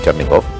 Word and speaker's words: Chernigov: Chernigov, Mariupol, Mariupol, una ciudad que es muy justamente importante.